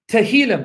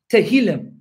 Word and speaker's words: Tehillim: Tehillim, that's the Hebrew word for Psalms. Tehillim. Tehillim. Tehillim. Abdul Halij, how's my pronunciation?